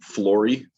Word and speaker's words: Flory: Of course, Flory, although if you say FLO plus anything, I will at least look at you.